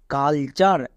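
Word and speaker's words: culture: এল কুল না কিন্তু সি ইউ এল কাল হবে নেক্সট টি ইউ আর ই চার এটা হচ্ছে ওয়ার্ড প্যাটার্ন তাহলে পুরোটা কি দাঁড়ালো কালচার তাহলে দেখলা আমরা টোটালে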